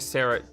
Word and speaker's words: Sara: Sarah Kidone's name is actually Sarah Chidone's name. It is a ch sound, not a k sound.